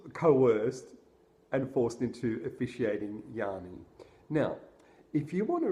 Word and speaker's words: Yianni: that change are also the way that they're pronounced right so he'd say Yanni and then I picked up on the way